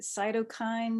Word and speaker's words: cytokines: One of the things that we're hearing with COVID, they keep talking about is it cytokines?